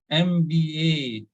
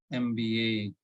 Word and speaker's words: MBA: MBA, MBA, MBA, BE. So the last letter, so the syllabus, so here, yeah, stress the last letter. It should be like MBA, BE, all right?